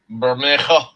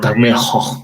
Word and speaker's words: Bermejo: Bermejo. Oh, Bermejo.